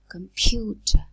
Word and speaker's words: computer: Computer, computer. So the k is not aspirated because it occurs in a weak syllable, while the p is the first element in a stressed syllable.